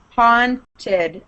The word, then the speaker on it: haunted: think that was kevin there should be no w sound it's not this watch haunted no see what my lips do haunted no you don't want your lips to be rounding like that that's how it turns into a w it's because of your